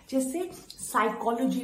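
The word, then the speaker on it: psychology: तो होता क्या है साइकोलॉजी वर्ड है तो साइकोलॉजी वर्ड में प्लीज साइलेंट है तो बहुत लोग मिस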